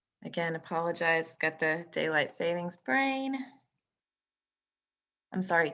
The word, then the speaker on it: daylight saving: apologize i've got the daylight savings brain i'm sorry daylight saving it's daylight saving time you'll know that there's no s on the end of savings it's daylight saving time my mother pointed that